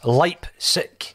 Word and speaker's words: Leipzig: So I have gone as far to consulting YouTube, and YouTube has told me that it's Leipzig. That's the way that you pronounce it.